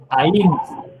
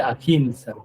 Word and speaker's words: ahimsa: El primero es ahimsa. Hay quien dice ahimsa, así, pero lo pronuncia como si fuera leído en inglés, porque ya se refieren al inglés. En inglés la H suena aquí.